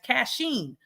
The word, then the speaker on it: Kachine: It's spelled K-A-C-H-I-N-E. If you spell cash, K-A-C-H, people tend to say my name as Kachine. That's not my name. It's Kachine.